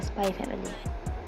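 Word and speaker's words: SPY×FAMILY: Spike's family oh sorry the eggs isn't supposed to be pronounced the Spy family okay let's go with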